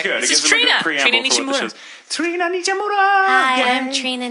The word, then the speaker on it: Nishimura: Like, I pronounce it the way my family has pronounced it my whole life, so it's Nishimura.